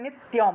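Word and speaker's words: নিত্যং: সান স্মারেন নিত্যম স্মারেন নিত্যম এখানে দেখুন ত এর সাথে জ ফলা থাকায় ত এর সাথে জফলা থাকায় তিয়ম উচ্চারণ হয়েছে নিত্যম উত্তরাম এখানে দেখুন ম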